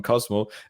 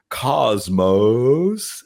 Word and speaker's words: Cosmo: We meet with them and they spell it in a very they always say Cosmos, and we always lose it.